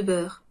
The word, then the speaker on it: beurre: Des tartines de beurre. Beurre. Beurre. On n'entend presque pas le R.